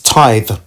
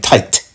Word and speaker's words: tithe: you okay first thing the word is tithe is t-i-t-h-e i know he has an accent and i know you know he may not be able to pronounce certain things a certain way i get that but he keeps saying tight tight tight it's tight right if if you can